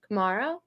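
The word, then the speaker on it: Camara: How do you pronounce it? Camaro.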